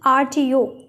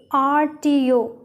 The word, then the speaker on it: RTO: in the next sentence she has an rto rto it produces a vowel sound so we put n